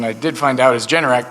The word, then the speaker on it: Generac: did find out is generic comes from generate ac they are the home